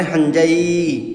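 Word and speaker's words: 犯罪: মানে গম্ভীর লোক অপরাধ হাজাই হাজাই মানে অপরাধ অপরাধ উচ্চারণটা হবে হাঞজাই অপরাধ মানবতা মানবতা উচ্চারণ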